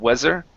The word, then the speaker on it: weather: the word weather okay give me a good th sound there instead of weather weather weather there you